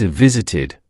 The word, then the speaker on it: visited: Now, let's try visit. It ends with t, so the past tense is visited, pronounced visited. Repeat after me, visited.